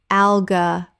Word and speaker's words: algorithm: Algorithm. 4 syllables. The stress falls on the first syllable.